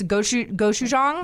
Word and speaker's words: gochujang: And it has this gochujang.